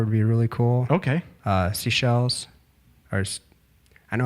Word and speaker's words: Seychelles: Seychelles. Or I know how it's spelled. I just don't know how to pronounce it. It's Seychelles.